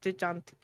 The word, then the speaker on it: Gigante: That's how they say it, like Gigante.